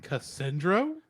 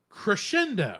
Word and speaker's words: crescendo: So it's like, yeah, this fact to be like the most the Cassandro. I'm saying that wrong. I know I'm saying it wrong. Cassandro? Not Cassandro. The last note of something. Crescendo.